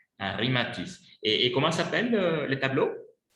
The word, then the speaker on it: Henri Matisse: Mais ça se prononce Henri Matisse. Henri Matisse.